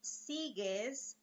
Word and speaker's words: sigues: So we have sigo, right, with the G-O, and sigues with an U, right? Sigues. So there's G-U-E. And I'm sure you have noticed that the U is silent here.